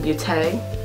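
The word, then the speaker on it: Beauté: There's a little accent on the E, so I guess it's Blinking Beaute.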